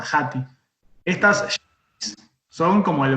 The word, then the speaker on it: jati: Yati se escribe, con J, Jati.